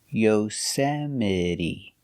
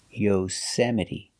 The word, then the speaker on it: Yosemite: The E at the end is pronounced with a long E, like green beans.